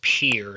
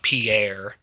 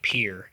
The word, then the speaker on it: Pierre: The capital, South Dakota, I think is pronounced Pierre, not Pierre. Yeah, Pierre, like a pier on the ocean.